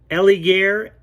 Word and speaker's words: Elegear: talk to you about the and i'll probably pronounce this wrong ellie gear e-l-e-g-e-a-r revolutionary queen-size cooling blanket that absorbs body